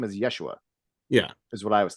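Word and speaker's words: ישוע: IED version would be Joshua which was originally pronounced Yeshua yeah and from Yeshua we get Jesus but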